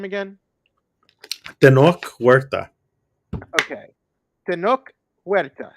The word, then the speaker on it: Tenoch Huerta: Tenoch Huerta. Am I saying that right? Yeah.